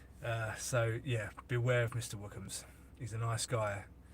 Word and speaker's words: Wookums: It's Wookums, so it's WOOKHAMS. Mr. Wookums, like that. So hopefully that helps. Yeah, JJ, that's exactly it, Mr. Wookums.